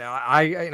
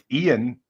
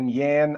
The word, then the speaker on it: Ian: oh what's wildest uh I've had Lan Yan ion ion Eon a um but the Lan